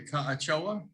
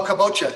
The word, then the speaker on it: kabocha: ahead valerie asks what about using am i pronouncing that correctly ochoa oh kabocha yeah actually i saw something in the store